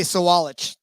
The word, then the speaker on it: Sawalich: very young kid yep learn how to say sawalich that's that's how you say it yeah I've heard